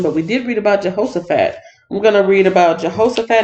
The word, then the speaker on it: Jehoshaphat: Jehoshaphat jaha so Jehoshaphat I've been saying it wrong I thought it was Jehoshaphat but it's Jehoshaphat Jehoshaphat and his name